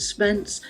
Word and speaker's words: Spence: model online offline community I call it Spence to rhyme with web science six facets make simple